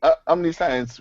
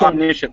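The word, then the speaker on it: omniscient: in the sense of knowing everything yeah KN Omni science would be the equivalent of absolute truth uh I think yeah in um we pronounce it omnicient though omnis sorry it's spelled like that but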